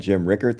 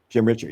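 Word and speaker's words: Jim Ritcher: it dude they had Jim Rickard there oh really from the bills right he was super nice kind wait you said his name wrong RoR richer richer Jim Richard yeah Jim Richard Jim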